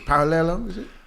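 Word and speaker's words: Paralluelo: don't want to butcher your parallelo I would never do that when there's two L's it's pronounced as like a year okay but yeah she's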